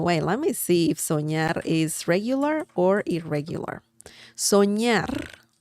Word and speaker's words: soñar: By the way, let me see if soñar is regular or irregular. Soñar, remember the ñ sound of this, the N that has a line on top? Soñar, soñar, ña, ñe, ñi, ño, ñu.